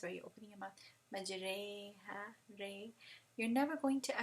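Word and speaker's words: مجريها: Majreha, ray. You're never going to actually use imala in Arabic letters, except for this one instance where Hafs pronounced majreha instead of majriha, right?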